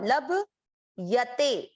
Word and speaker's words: लभ्यते: आगे है ल के साथ आधा भ, लब यते, लब यते।